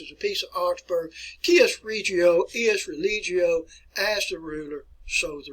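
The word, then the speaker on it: cuius regio, eius religio: You can't read my letter right here, but that is an E, but it's pronounced Cius Regio Ius Religio.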